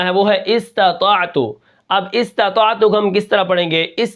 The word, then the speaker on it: استطاعت: حمزہ سین زیر اس، طا زبر طا، اسطع، طا، طا زبر طا، اسطع، طا زبر طا، اسطع، تا عین زبر تا، استطاع، تا پیش تو، استطاعت، وقفاً استطاعت، ٹھیک ہے۔